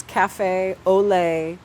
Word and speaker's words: Cafe Ole: On Instagram, I go by my burlesque performer name, which is Cafe Ole, like French, Ole, like Spanish, at Cafe Ole Ole.